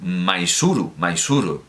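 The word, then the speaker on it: Mysuru: Misor, dice Victor Hugo, pero claro, se pronuncia Mysore, es decir, el Maisuru, que es como se pronuncia ahora, de acuerdo con la forma original, desde luego.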